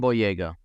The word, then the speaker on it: Boyega: Yeah, John Boyega.